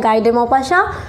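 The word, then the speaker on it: Guy de Maupassant: कि French writer थे तो इसलिए नाम भी आप लोग थोड़ा बहुत लोग प्रोनाउंस सबका अलग-अलग होता है नाम इनका ऐसा है गाय डेमो पाशा तो इस स्टोरी की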